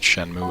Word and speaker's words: Shenmue: I don't I don't even know if it's pronounced Shenmue. Is it Shenmue? It's just Shenmue.